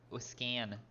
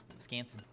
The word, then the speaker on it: Wisconsin: Make sure you get that an in it. Wiscan. Wisconsin. Otherwise, you'd be pronouncing it wrong.